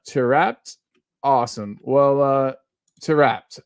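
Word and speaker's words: Taarabt: me a bone too said it's pronounced uh terat awesome well uh to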